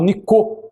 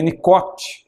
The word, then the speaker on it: Nicot: Tanto que havia lá em Portugal um embaixador da França chamado Nicot, não é? Se escreve Nicote, e ele até emprestou o seu nome para o termo que surgiu, nicotina, não é?